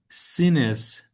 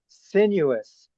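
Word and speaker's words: sinuous: Then then something broke the surface and a long sinus. Sinis neck. How about sineuous?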